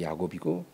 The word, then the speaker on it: 야곱: 근데에 야고보 야고보라는 이름은이 구약 시대는 그 이름이 야곱이라고 불 야곱 구약 성경에는 야곱이라고 하는데 그게 이제 히브리식 발음이에요. 히브리어 발음이 야곱이고 그것이 이제 신약에 와서 이제 헬라식 발음 헬라 발음으로 야고보라 그래요.